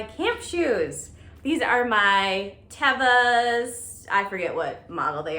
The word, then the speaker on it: Teva: By the way, I recently learned that it's pronounced Teva and not Teva. I've been saying it wrong for about 20 years. But shout out to my friend Jukebox who works at REI and told me that it is Teva, and then I looked it up and yeah, it's Teva.